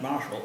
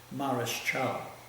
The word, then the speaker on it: Marshal: In those days the word was not pronounced Marshall, it's Mareschal.